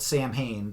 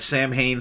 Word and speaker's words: Samhain: Bullet Band, Mother of Mercy from Samhain, which is spelt Samhain, but I think it's pronounced Samhain, No Excuses